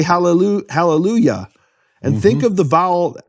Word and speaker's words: hallelujah: In fact, in English churches, they pronounce the Yah of hallelujah correctly. They don't say hallelujah. They say hallelujah.